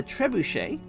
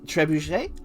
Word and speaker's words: trebuchet: uh this is the trebuchet i think i'm saying that correctly you don't pronounce the t on the end here absolutely beaster but we're